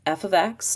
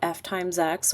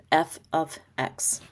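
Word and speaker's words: f(x): And just friendly reminder, it's pronounced f ofx, not f* x or fx. It's f ofx.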